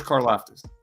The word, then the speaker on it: Karlaftis: So, and I know I just read that The kid from Purdue, I don't even, how do you pronounce his name, Dives? George Karlaftis.